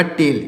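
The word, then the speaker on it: tell: हो जाएगा ला, और एक यल यहाँ पर साइलेंट है, तो हो जाएगा टेल।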